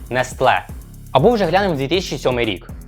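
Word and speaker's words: Nestlé: корпорацію змогла купити неestле що цікаво наголос на останні склад неestle або вже глянемо 2007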